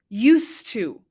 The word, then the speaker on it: used to: This expression is pronounced used to.